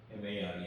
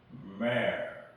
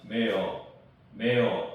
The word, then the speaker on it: mare: 말을 얘기하고 male 하면은 MARE 하면 이제 암말이 됩니다. 암말. 이것도 마찬가지예요. 어이 발음이에요. male. 그리고 이제 R 발음은 혀를 이제 이 입천장을 향해서 이제 이 꼬는 역할을 하기 때문에 혀가 꼬입니다. 그래서 mare 해갖고 입천장에 혀 끝이